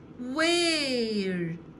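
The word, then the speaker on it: where: نعرف ازاي بننطقها الاول الدبليو صوتها صوت حرف و و زي صوت حرف الواو كده والاتش سايلنت ما ننطقها وير اين ار فعل مساعد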